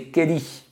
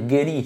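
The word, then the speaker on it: 蹴り: des coups de pied le coup de pied en japonais c'est Kelly donc pourquoi est-ce qu'on dit je l'ai déjà dit mais je leur dis washi Gelli MAE Gelli tout ce que vous voulez quelque chose Guell et là c'est plus un K c'est un G il est bien question de Guell mais quand vous parlez du coup de pied tout seul non pouvez pas dire guelli si vous dites guelli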